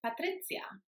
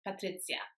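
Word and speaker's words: Patrycja: is s and then the J is pronounced like the English letter Y so for example in the word yellow the first sound is y and that's the sound in the name patri so then you've got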